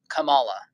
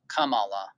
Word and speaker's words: Kamala: flower is what it means and it's actually pronounced Kam Kamala Kamala so I kind of want to be like